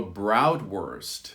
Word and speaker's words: Bratwurst: There's also something called a Bratwurst, which is a German word for sausage, but we use the same pronunciation, worst, in the end of that word.